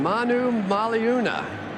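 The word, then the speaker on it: Manumaleuna: he may force you to learn how to pronounce his name Brandon Manu maluna got it that's it you score a touchdown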